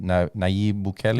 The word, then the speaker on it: Nayib Bukele: Nayib Bukele?